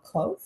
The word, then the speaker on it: Clough: Harris and Thomas Claugh, Clough. Clough. Yeah, in the Claugh. UK we went. There's a factory in Halifax where I'm from called Dean Clough Mill. Oh, Spelled the same.